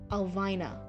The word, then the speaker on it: Alvina: Oh, you'll read Alvina, eventually pronounced Elvine. Alvina. Oh, there we go, Alvina. Normal, I wouldn't harp on it, but I named her after my Nana, so it's important to me. Okay, so it's Elvina.